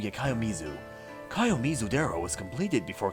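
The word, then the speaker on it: 清水: Is it pronounced like Kayomizu? Yeah, Kayomizu.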